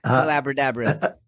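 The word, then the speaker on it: Collaborabra: you and your book collabor Abra you can find the collabor Abra just type in collabor Abra it rhymes with Abracadabra yeah that's why I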